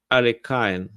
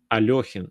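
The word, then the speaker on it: Alekhine: So some people, when they pronounce Elekin's second name, they say Alekain. So I don't know how to say it properly, but in Russian it sounds like Alekhin or Alekhin two ways. So that's why I say Elekin, like it's written.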